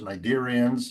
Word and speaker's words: cnidarians: I always like to say stuff with silent letters, ctenophores, cnidarians, and then there's the